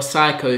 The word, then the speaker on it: psycho: saying so clearly you're psycho who wants my P it's silent because like psycho howdy spell psycho psy CH oh the P is silent he was my P